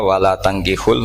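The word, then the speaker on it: ولا تنكحوا: Jadi ya, saya ulang lagi ya, mestinya bacanya wala tangkihul musyrikati hatta yu'min bi fathit ta.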